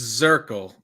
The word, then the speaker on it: Zirkel: your last name because I I kept like mispronouncing it so it's Circle z-i-r-k-e-l chances are you may have seen an